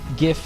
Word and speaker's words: GIF: not GIF is that it's an acronym for graphics interchange format. Well, that's like my go-to as well. It stands for something, and if graphics starts with a hard G sound, then shouldn't its acronym as well, right? But then, of course, the counterpoint is, well, the guy that made the thing calls it GIF.